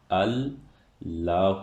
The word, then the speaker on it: اللہ: تاہم، قاعدے کے برعکس، جڑ کا ہمزہ گرا دیا جاتا ہے اور اس کا تلفظ 'اللہ' ہوتا ہے۔ اور اس طرح لکھا